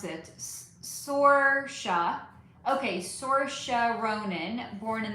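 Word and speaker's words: Saoirse: Sora. Okay. Sora Ronin. Born in the club. Um, Tony Kat. Yes. Zoe Dich. Yes. Sorca.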